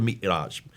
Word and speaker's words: Mi'raj: But that's where called the Miraj. How do you pronounce it?